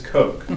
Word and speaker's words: Koch: So you see on the far left, not Denise Koch, Denise Koch.